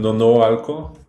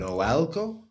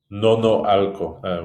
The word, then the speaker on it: Nonoalco: It's in Nonoalco. It's close to La Plaza de Toros. I don't know if you kind of Noalco? Nonoalco.